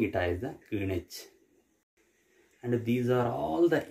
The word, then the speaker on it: Greenwich: We are pronouncing it as the Greenwich.